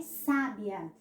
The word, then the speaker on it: sábia: Mas se eu disser Maria é sábia, olha só como já modifica.